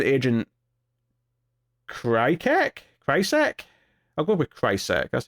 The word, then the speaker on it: Krycek: I'll go with Krycek. That's how you pronounce that.